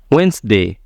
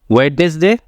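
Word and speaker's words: Wednesday: कहते हैं witness day लेकिन यहां पर भी डी जो है ये आपका होगा साइलेंट क्योंकि डी के बाद क्या है एन वेनसडे वेनसडे वेडनेसडे अगर आप कहेंगे तो गलत होगा वेनसडे नेक्स्ट आपका है हैंडसम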